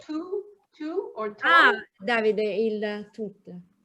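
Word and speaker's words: tov: In dialect is tu. So. T-O-V. T-O-V.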